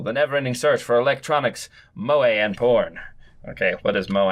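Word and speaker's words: moe: entertainment centered around characters who possess such traits pronounced MOA and uh yeah look glasses clumsiness and dizziness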